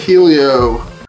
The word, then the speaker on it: Helio: the homies over it Helio hope I'm pronouncing that right it's h e l little i o the eyes is the only lowercase one Helio that's that's how it sounds in my head um but they're calling